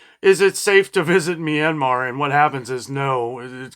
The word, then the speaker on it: Myanmar: wanted to look up the pronunciation I was pronouncing it Myanmar but it's Myanmar uh and I guess since about 1990 I